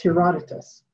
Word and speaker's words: Herodotus: traveler who visited egypt about 450 bc uh pronounced in it wrong that's herodotus anyway he included a description of the great